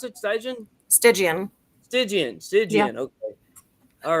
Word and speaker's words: Stygian: Is that how you pronounce it? Stygian? Stygian.